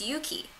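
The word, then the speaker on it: Yuqi: How is it pronounced? Yuki? It's Yuki.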